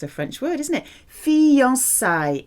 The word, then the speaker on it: fiançailles: Engagement in French is fiançailles. If you think of fiancé, it's a French word, isn't it? Fiançailles. It's used in the plural. It's a feminine plural word. It rhymes with Versailles. Fiançailles à Versailles.